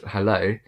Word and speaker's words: hello: the word hello so how this one sounds really British is the Oh sound at the end of hello so it really you